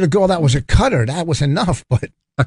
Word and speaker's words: Qatar: in the Middle East qatar's now pronounced cutter I was like why